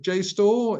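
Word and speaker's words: JSTOR: because I'm really interest is that Jore uh J store is that is that how you pronounce it have I got that pronounce pronunciation right yes it's j store it's a it's a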